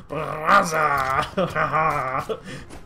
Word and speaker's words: Barraza: You gotta put that R. You gotta roll the R a little bit, apparently. Barraza.